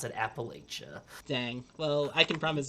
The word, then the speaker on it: Appalachia: that's going to say you can tell what kind of person is by the pronunciation of appalachia uh you were born on the mountain and you work on the mountain if you pronounce it appalachia and you were probably